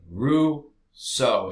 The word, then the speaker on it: Rousseau: guy named jean-jacques rousseau also a French name Roux so is how you pronounce this he wrote about the general will